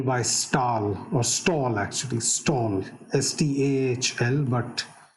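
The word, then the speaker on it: Stahl: stall or stall actually stalled s-t-a-h-l but but because it's scandinavian it's pronounced as stall it's a very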